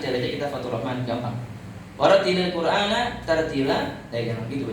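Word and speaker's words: وَرَتِّلِ الْقُرْآنَ تَرْتِيلًا: Warattilil Qur'ana tartila, jangan gitu bacanya. Warattilil Qur'ana tartila.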